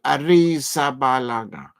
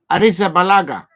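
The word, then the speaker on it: Arrizabalaga: the goalkeeper for buou AA AR Arisa balaga Arisa balaga Arisa balaga that's how you must pronounce the lad's name Arisa balaga that is the goalkeeper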